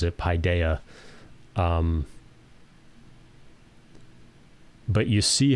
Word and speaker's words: paideia: the e sound versus Pi Deo which is like pie like eating a pie so uh I'll come